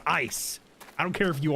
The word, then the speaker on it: Issei: Please, Issei. It's pronounced ice.